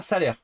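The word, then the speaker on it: Salers: Salé, prononcé comme salaire. Ah, salaire.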